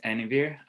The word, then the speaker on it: Anuvir: perfect um hi everyone my name is aniver or anu like a new person if that helps you remember my name better or how to say it correctly um i will be